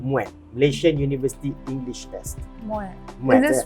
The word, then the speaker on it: MUET: MUET. Is this pronounces it again? MUET, M-U-E-T, Malaysian University English Test.